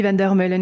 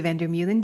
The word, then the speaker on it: Vander Meulen: My name is Vander Meulen, if you do not yet know me, or Vander Meulen, depending on how you like to pronounce my name and where you are in the world.